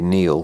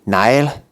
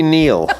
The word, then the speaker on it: Niall: the people who say kneel which is right and the people who say Nile which is wrong and the Nile comes from the Irish mispronunciation of the Gaelic language or Gaelic language throwing